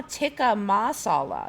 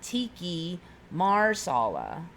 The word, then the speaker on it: tikka masala: was well it's it's it's now tikka masala it's not Tiki Marsala I was very careful to make sure I knew how to say it I never heard